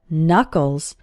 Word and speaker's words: knuckle: The joints between your fingers and the palm of your hand are called knuckles. The first K in this word is silent.